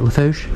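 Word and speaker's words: Lafourche: And am I saying it right, Lafouche?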